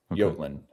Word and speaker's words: Jutland: It's the JY. So the J is when the in Y. doubt, flip the J to the Y. Oh, okay. Jutland.